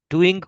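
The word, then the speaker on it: doing: डूइंग को ही डूइन पढ़ रहा हूं मैं, है ना, तो डूइंग, ग साउंड को आप थोड़ा सा साइलेंट कर सकते हैं अमेरिकन इंग्लिश में।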